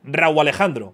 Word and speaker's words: Rauw Alejandro: O sea, ¿tú crees que pronuncio bien tu nombre? Raúl Alejandro.